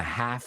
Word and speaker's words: half: Heroes in a half shell. Half shell. Yeah. And what we have to do is we don't pronounce the L in half.